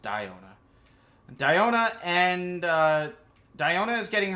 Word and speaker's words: Diona: I keep saying Diona. It's pronounced Diona.